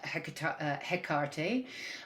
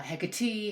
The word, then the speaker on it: Hecate: with the goddess uh i call her hekarte uh hecate hecate her cart uh i've caught her many different things actually or many different pronunciations but today jakarte feels like the way in which we will be going and that's what we